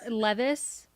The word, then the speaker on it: Levis: leave this I'll tell you that it's not will leave us Jake it's not he's not him you're pronouncing that name and it's just uh me yes Levis that shows you how little I've like ever